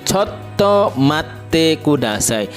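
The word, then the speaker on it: ちょっと待ってください: Ya, kita ulangi, choto mate kudasai. T-nya double ya di situ. Choto, T-nya double, mate double, kudasai.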